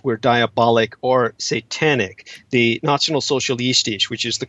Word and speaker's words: Nationalsozialistisch: The Nationalsozialistisch, which is the correct pronunciation for the National Socialists, they were essentially very much an occult movement.